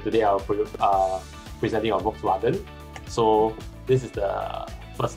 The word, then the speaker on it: Volkswagen: Joel Chin to share with us about Volkswagen. Volkswagen, is that how you pronounce it? Volkswagen. No, it's Volkswagen, it's a V.